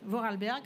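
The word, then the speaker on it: Vorarlberg: D'abord il faut déjà apprendre à le prononcer. Voralberg.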